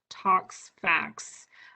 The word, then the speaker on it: ToxFAQs: And they spell it TOXFAQS. If you Google Tox Facts, you will find that, but they have a really nice series of fact sheets.